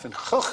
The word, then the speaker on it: Van Gogh: able to give you the correct pronunciation of Van Gogh, the great man's name. Sounds like an outbreak of pneumonia in a frog pond.